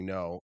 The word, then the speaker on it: Ngo: So, that book uh Unmass by Andy No, I think it's that's how it's pronounced.